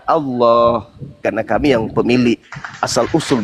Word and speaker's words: Allah: Begitu juga a l a h itu adalah hak mutlak milik umat Islam. Kamu aja yang memperbodoh diri membacanya alah. Padahal kaidah membacanya adalah Allah.